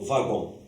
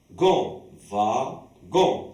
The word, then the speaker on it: wagon: Vagon. Alors, dans le mot wagon, il y a deux syllabes. Alors, ici, la lettre W, on la prononce comme la lettre V.